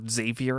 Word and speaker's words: Xavier: They are, our main characters are Brooke, Xavier, or Xavier as they pronounce it, Montana, Ray, and Chet.